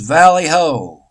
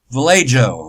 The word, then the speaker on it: Vallejo: sanctuary City Valley Ho California City Council names Valley Ho Vallejo wherever you want to pronounce it a safe haven for immigrants The